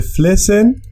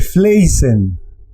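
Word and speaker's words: flessen: Porque si de pronto alguien hace el plural así. De flesen. Esta palabra se leería de fleisen. Cambia el sonido de esta E. Fleisen. De flesen. De fleisen. Y esta palabra pues no es correcta.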